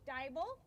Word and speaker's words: Dibal: have a new coach coach dibal rhymes with bible who has carried the